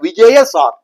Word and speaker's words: விஜயசார்: அடுத்த ப்ராடக்ட் அடுத்து விஜயசார் அப்படிங்கிற ஒரு ப்ராடக்ட் விஜயசார் உச்சரிப்பு கவனமா இருக்கணும் விஜய் அப்படி கிடையாது விஜயசார் இது வந்து வேங்கை மரம்